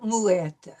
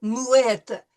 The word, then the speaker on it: muette: to in this word muette. We're pronouncing the T sound because we have a double T.